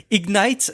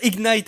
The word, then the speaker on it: Ignite: qu'il fallait pas prononcer ignite ben comme j'avais supposé que il fallait le faire mais bien ignite non c'est l'inverse c'est il faut dire ignite et non pas ignit je m'y perd et